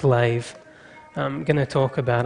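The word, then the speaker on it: לב: The Hebrew word used in this verse for heart, it's spelt leb, but it's pronounced lave.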